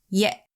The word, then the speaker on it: ရက်: What it's doing here is telling us that the yagao before it is pronounced with a glottal stop.